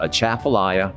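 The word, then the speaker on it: Atchafalaya: difficult when you look at it but it's pronounced a chaffelaia basin and it's a large body of water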